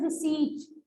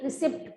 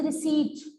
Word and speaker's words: receipt: See, bache, its pronunciation is receipt. Don't speak receipt. P is silent here. It is receipt.